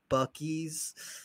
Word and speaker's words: Buc-ee's: We went to I'll say it right, Buc-ee's.